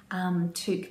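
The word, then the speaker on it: toque: she's just released which is the Priscilla truck took being the Canadian word as I understand it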